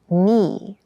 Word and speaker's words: knee: hard keep in mind yes this word begins with a k in spelling but the pronunciation is knee the boy fell and